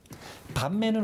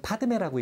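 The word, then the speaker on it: padme: 밤매는 원래 원어로 할 때는 파드메라고 읽는데 이건 연꽃을 상징해요.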